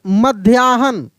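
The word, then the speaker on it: मध्याह्न: साध्विक के उसके बाद मध्याहन मध्याहन मध्याहन देखिए म आधा ध या मध्या ह न मध्याहन ठीक है ना मध्याहन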